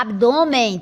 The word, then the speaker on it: abdômen: Note aqui que a palavra abdômen tem a sílaba tônica aqui, é uma paroxítona, porque é a penúltima sílaba, tá aqui a última, me, e a penúltima, do, certo?